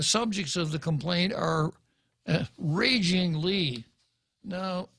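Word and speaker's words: Régine: complaint are ragingly now senator Lee spells her name regi n but there is a primary accent over the e meaning that the first syllable of her first name is to be accented therefore it would be raging well that's too hard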